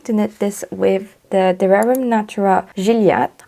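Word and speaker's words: De Rerum Natura: knit this with the Dererum Natura Juliette. I think that's how you pronounce it if you pronounce it the French way, because it's a French brand.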